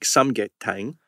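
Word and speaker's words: 삼계탕: And so that's a comfort food, just like samgyetang right.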